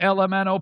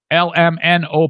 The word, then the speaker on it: LMNO: For those that don't know, Stu McAllister has a podcast called LMNO Podcast. Kind of like you're saying the alphabet. LMNO Podcast. LMNO Podcast.